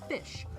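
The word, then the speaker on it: ghoti: spell goie oh no this is a way to spell fish the GH makes the F sound we see in enough the O is pronounced like the O in women and the ti is like the ti in nation fish now if all of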